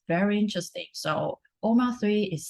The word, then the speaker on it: OMA3: a organization called web3 oma3 um i would pronounce it omar 3.